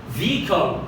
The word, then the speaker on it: vehicle: حيث أن الإج هنالك كلمات شاذة لا يلفظ فيها اللي هي exhausted، vehicle. أصلا الإج ولا لها أي ذكر ولكن يجب أن تكتب.